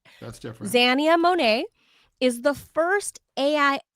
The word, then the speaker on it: Xania: but I think it's Zania Monae. Correct. X A X A N I A Zia. Xania. Not Zania. Like Xanax.